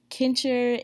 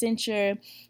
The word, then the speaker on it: cincher: duration of this video i said kincher and that's not correct it's pronounced cincher nobody ever corrected me